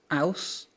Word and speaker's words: Ouse: Ouse. Yes, it's usually pronounced ooze, but you're correct.